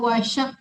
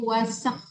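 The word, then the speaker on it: وَسَخَّرَ: Bukan wasyak tapi wasak. Tipiskan sinnya. Wasakas.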